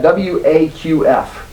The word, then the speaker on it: Waqf: W-A-Q-F.